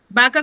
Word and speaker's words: vaca: La pronunciación no es diferente, porque yo digo vaca. Vaca con V, vaca con B, ¿cierto?